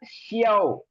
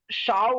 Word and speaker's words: 小: எக்ஸ் வந்து SHE sound, இங்க வந்து ஒரு இ சவுண்டு, அப்புறம் ஆவ். ஏஓ வந்து ஆவ். இது வந்து ஷியாவ். ஸோ கிட்டத்தட்ட தமிழ்ல ப்ரொனவுன்ஸ் பண்ணா ஷியாவ் ஷியாவ். அப்புறம் ஜியே 姐 ஷியாவ் ஜியே. 小姐 நீங்க இப்ப சொல்றது ஷாவ் மாதிரி வருதுங்க சார். அது ஷாவ் கிடையாது.